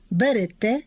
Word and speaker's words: берете: Отже, літературний наголос на останньому складі. Несете, берете, живете, даєте.